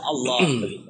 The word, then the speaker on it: Allah: dibacanya apot nah kata Allah seperti itu walaupun ditulisnya dengan huruf a kaidahnya kembali ke dalam bahasa Arab karena ini fathah dalam huruf yang keras dibaca o lam doble kan dibaca o Allah oke nah itu masalahnya